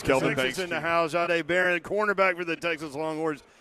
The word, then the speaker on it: Jahdae Barron: So, Jahdae Barron, it's with a J. Am I pronouncing it correctly? Yes, sir.